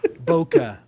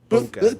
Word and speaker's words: bokeh: No, bokeh. B-O-K. Boca. Yeah, bokeh.